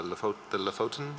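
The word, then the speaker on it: Lofoten: the environmental concerns specifically about the lefotin islands i believe it's pronounced and of course as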